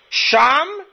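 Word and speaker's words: שָׁם: In Hebrew, it's spelled Shin Mem, which is very, very ironic. There in Hebrew can also be Shem, name. Sham, there, Shem, name.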